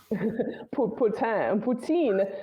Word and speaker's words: Poutine: So personally, I prefer the French one, Putain. Poutine, like poutine, the food in Quebec, right? That's disgusting. I know some people love it. Poutine, Quebec in Canada has poutine.